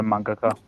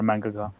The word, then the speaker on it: manga: Well, I noticed with the pronunciation of manga, like a lot of Australians will say manga and Americans will say manga. They pronounce it with an A, and I think that sort of rubs across a bit.